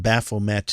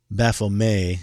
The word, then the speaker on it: Baphomet: about the pronunciation of Baphomet versus Baphomet, and Laurent wrote to me and said it's Baphomet, it's French, and that's how I pronounced it.